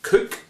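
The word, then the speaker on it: Coke: hobson loved his hat known um as a cook pronounced cook it really is the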